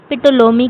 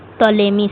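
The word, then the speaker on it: Ptolemy: अगला सवाल है पिटोलोमी की प्रसिद्ध पुस्तक कौन सी है? Which is the famous book of पेटोलेमी? टोलेमी sorry टोलेमी है। यहां पे पी नहीं होगा। पी साइलेंट हो जाता है।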